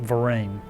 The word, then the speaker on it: Vereen: Jacques Vereen, or Varin, it's spelled V-A-R-I-N in those early records, but it must have sounded like Vereen.